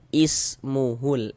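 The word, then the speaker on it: اسْمُهُ: Ini cara membacanya kita baca ismuhul is jangan us.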